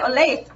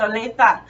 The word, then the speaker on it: Olathe: be proud of me I always want to say Oh late and he said nope it's Alisa so um so yeah one